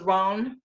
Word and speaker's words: Rowan: up to England and into Celtic when it was Ron, instead of Rowan, when it was Ron. So yes, that's how it was originally pronounced.